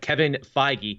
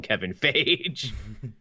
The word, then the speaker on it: Kevin Feige: But Kevin Feige, see, I said it right that time. I didn't call him Kevin Feige.